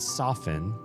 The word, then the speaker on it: soften: The T in there, even though there is a T, is silent and it's just been silent for all of our lives and probably for many generations before us.